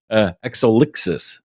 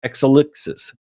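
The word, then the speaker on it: Exelixis: Okay, Xalixus. Exalixus I believe is the correct uh pronunciation.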